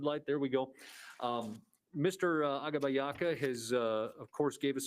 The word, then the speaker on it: Agbabiaka: Agbabiaka, 3 syllables. The G silent, Agbabiaka.